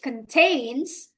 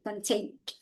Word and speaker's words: contained: sends a notice to its customers which contains contain-nya verb kedua ya itu ya contained itu tulisannya contained tapi bacanya enggak boleh contain contained apa jawaban nomor 3